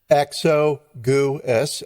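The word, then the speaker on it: Exiguus: x go s goose i wrote it out phonetically so diane uh yeah dionysus exo goo s exogus he was a monk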